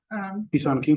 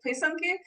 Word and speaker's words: pisanki: So you pronounce it Pisanki. yeah, and in Ukraine we pronounce it Paysanki. So just a little bit of a different accent.